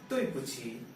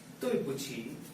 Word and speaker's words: 对不起: Now this is pronounced as ta in Hindi, and this, as we all know, is pronounced as pa, and this q or chi is pronounced. This is pronounced as cha. So this becomes 对不起, which is used to say I am sorry.